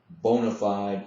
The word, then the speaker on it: bona fide: The correct Latin pronunciation would be bona fide, and he would yell it to us, bona fide, and we would have to yell it back to him.